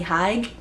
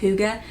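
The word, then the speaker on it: hygge: have is Holy Huga for the longest time I I thought it was pronounced holy HG but apparently it's pronounced Huga and looking at it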